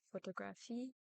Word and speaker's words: photographie: As quoted from the University of Texas, stress is placed on the final syllable of a word, which is very different from English, where it can occur in any place depending on the word. So, for example, in French, I would say photographie, cathédrale, and passion.